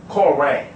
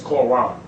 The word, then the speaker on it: Quran: No true Muslim says Koran. It's Quran. And they even pronounce it a different way from me. They put an emphasis on the Q.